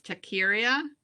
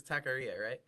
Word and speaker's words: taqueria: how to say this takiria dave what is that place opening in your building it's a taqueria korea korea there we go what is it it's